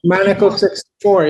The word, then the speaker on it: Maneco: I'm always pronouncing that wrong. Is it? That's right, Maneco64.